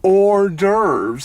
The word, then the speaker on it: hors d'oeuvres: It's hors d'oeuvres, and the whore is silent. Like usual.